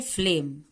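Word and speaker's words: flame: भी वर्ड में अगर लास्ट में ई आता है तो ई साइलेंट होता है फ्लेम का मतलब होता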